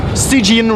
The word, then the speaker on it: Stygian: Did I pronounce that correctly? Stygian, Reign of the Old Ones.